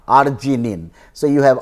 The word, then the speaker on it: arginine: So lysine is K and then arginine, pronunciation is like R, arginine.